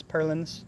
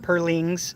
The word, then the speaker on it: purlins: somebody putting purlins on yes purlins not purlings somebody commented because i pronounced it wrong purlins but yeah they're